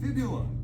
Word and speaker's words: fibula: It kind of sounds like tibia, but if you put an F at the start. Do you have any ideas what it might be called? Fibula. Yes? Fibula.